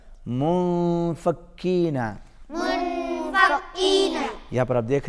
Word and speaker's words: منفكين: منفكين. منفكين. چھوٹا کاف ہے، باریک پڑھا جائے گا. منفکین.